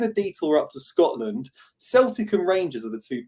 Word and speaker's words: Celtic: It's Sunday, 8:30 a.m., Motherwell against Celtic with a soft C.